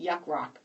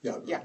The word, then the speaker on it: Yacht Rock: I'm saying it right because I last time I said it, Yuck Rock. Yacht Rock. Yeah, I said Yuck.